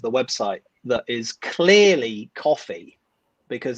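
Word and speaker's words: Ko-fi: No one knows how to pronounce the name of the website that is clearly coffee, because it's about buying someone a coffee. Yeah, everyone wants it to rhyme with Kofi Annan.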